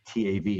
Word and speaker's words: Tav: If you wrote it in English, I guess you write it a T-A-V, a Tav.